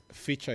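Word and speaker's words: fichua: are not necessarily Kenyans feature is spelled in the way that it sounds f i c-h-a Uchi is u-c-h-i #feature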